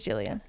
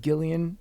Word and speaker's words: Jillian: Okay, so it is Jillian. I think people were saying Gillian, but Who's people?